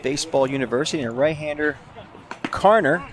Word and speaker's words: Carner: University and a right-hander, Carner. Did I say the right last name right there, Coach? It's the way it's spelled. Carner, okay.